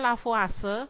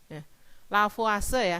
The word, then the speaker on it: Lavoisier: pertama hukum kekekalan massa Mencetuskan lavase bacanya Ya tulisannya memang lavoisier lavase ya Hai itu biasanya Nanti